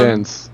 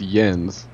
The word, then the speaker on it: Jens: was some of them Jens it's yens like for one and it's moang so